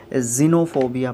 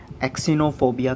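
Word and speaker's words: xenophobia: सबसे पहली बात तो ये है कि इसको जिनोफोबिया पढ़ते हैं, एक्सिनोफोबिया कभी भी नहीं पढ़ते हैं, ठीक है।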